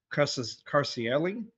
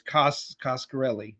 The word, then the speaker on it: Coscarelli: It was co-produced and directed by Don Carcielli. I believe that's how I'm pronouncing it. Coscarelli? It's Coscarelli, yeah.